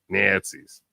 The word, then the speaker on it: Nazis: One of the, I guess it's progressive Nazis. I guess that's what it is. Nazis. You gotta say it like Brad Pitt in Inglourious Bastards. Nazis.